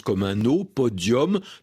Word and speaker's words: podium: du 20e siècle et il a gardé un accent latin avec un nu qu'on prononce comme un eau podium.